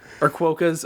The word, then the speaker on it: quokka: Or Quokkas or whatever. Future Uriah will find the actual pronunciation and put it right here.